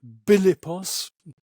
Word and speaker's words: Philippos: Anyway, his parents were Philippos. The Macedonians pronounce that Bilippos. The PH becomes a B sound.